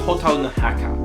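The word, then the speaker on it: 火垂るの墓: However, let's take a closer look at the Japanese title, Hotaru no Haka, pronounced Hotaru no Haka.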